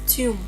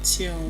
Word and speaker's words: tomb: It is tomb. tomb The b is definitely silent.